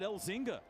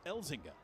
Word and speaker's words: Elzinga: I said his name wrong, I think, all year. I said Elzinga all season. And then he came into the radio station studio the other day and he says it's Elzinga.